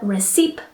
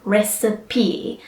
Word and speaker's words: recipe: is our next word often I hear recipe alright which which is not right it is three sounds or three syllables so we say recipe alright so the next